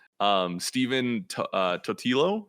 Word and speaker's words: Totilo: in gaming in general right um steven uh totilo said he pronounced that former kotaku uh uh writer um datillo thank you yeah i'm bad with names um